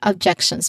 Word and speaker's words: objections: Pronunciation wise the stress is on the second syllable objections because that's what we're trying to emphasize here. Okay. For a moment. All right. So, yeah, going back um objections. Uh yeah, objections. So, we stress on that.